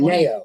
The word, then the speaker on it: añejo: Anejo. With the little thing over the J silent. Whatever it is. It's an H. Upman Nicaraguan. Añejo.